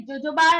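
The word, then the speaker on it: jojoba: जोजोबा लिखा है यहाँ पे, प्रोनाउंस करते हैं जोजोबा, लेकिन ये शैम्पू, यू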